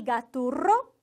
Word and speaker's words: Gaturro: E, de novo, o desafio do R bem forte. Gaturro, certo? Gaturro.